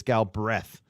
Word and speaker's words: Galbraith: all right and joe you're not saying galbraith correctly that's why they told you to say galby it's gal breath no cr no it's